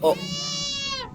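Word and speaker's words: を: Dan juga di sini, ini kita bukan wo dibacanya tapi o. Ya. O. Ini tuh. Padahal hurufnya adalah huruf wo ini tuh.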